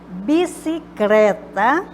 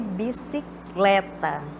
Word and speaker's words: bicicleta: Bicicleta, no lugar de bicicleta. Cabeleireiro, no lugar de cabeleireiro. Então, tá, à direita é a forma correta de pronunciar.